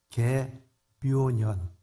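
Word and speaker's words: 계묘년: 올해를 우리는 개미년이라고 말합니다 발음을 잘해야 될 것 같아요 잘못하면 굉장히 신뢰가 되는 말입니다 개묘년 이렇게 되어 있습니다 제가이 개묘원을 갖고서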